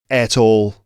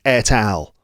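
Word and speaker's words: et al: No, it's pronounced etal. Of course, it's pronounced etal. I knew that already. I don't know why I decided that it was pronounced at all. But it's not pronounced that. It's etal.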